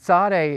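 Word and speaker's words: tsade: is saw day and that saw day is pronounced like the TS in boots it's more like a hissing sound or letting the air out of a tires that's sound in Hebrew TS it's written with two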